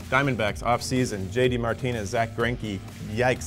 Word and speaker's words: Greinke: Martinez, Zack Greinke, yikes, how do you think he is playing out? Look, Zack Greinke rhymes with Yankee, and maybe that might be a good alternative.